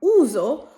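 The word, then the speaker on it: uso: দুটো ভোকালের মাঝখানে, যেমন উজো, উজোতেও এস আমরা জ উচ্চারণ করছি, এটাও হচ্ছে দুটো ভোকালের মাঝখানে।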